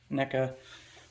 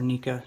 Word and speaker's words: NECA: in the head whereas the NECA or Nika depending on how you pronounce it he's got plastic here